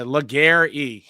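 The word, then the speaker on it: Légaré: Legary? Wait, I put the phonetic spelling in my phone. Some of these names really throw me through a loop. Yeah, Legare.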